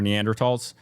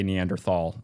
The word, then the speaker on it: Neanderthal: So they're not Dennisovvens or Neanderls.